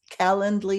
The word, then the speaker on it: Calendly: I'll actually put a link to your C calendly is how you pronounce it yeah it is yeah yeah you